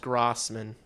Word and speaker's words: Grossman: No, it's pronounced Grossman. It's like Grah. Think about it like Grah. Grossman. And then like min. Like not man.